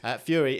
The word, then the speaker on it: Furie: Fury, if you are looking for it on Netflix or anywhere else, is spelled Furie.